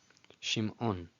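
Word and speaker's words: שִׁמְעוֹן: Shimon. Shimon. Of course, you could just say Shimon, Shimon, Shimon, but out of respect for the ayin, I choose to say Shimon, Shimon.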